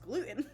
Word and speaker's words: gluten: I was like, I have to pronounce it with the T because in my accent it's just gluten, which doesn't sound like anything. So yes, gluten it is.